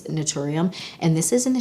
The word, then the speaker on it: Naturium: I always say Natrium, Naturium. I've said it 1,000 different ways. I think it's Naturium.